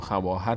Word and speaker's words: خواهر: فارسی هم مثال‌هایی داره مثل کلمه خواهر که ما خواهر می‌نویسیم اما خواهر نمیخونیم خواهر می‌خونیم یا خواندن رو ما خواندن می‌نویسیم اون واو رو ما نمیخونیم و مثال‌های الف‌های هم